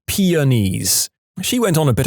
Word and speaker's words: peonies: in a story, and my classmate said, "It's pronounced ponies." I looked doubtful and said, "Really? I'm pretty sure it's just peonies."